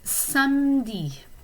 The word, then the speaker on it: samedi: Saturday is samedi. Okay, the E is kind of almost silent.